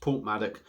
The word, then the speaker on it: Porthmadog: It's spelt Porthmadog, but it's actually pronounced Porthmadog.